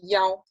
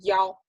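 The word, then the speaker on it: 一: is often pronounced not have e anymore it's pronounced as yaw as yaw so take a look at the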